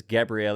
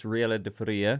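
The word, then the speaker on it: Gabriela de Faría: I am probably butchered that name, but I don't think you pronounce it as Gabrielle. It's Riela de Faria.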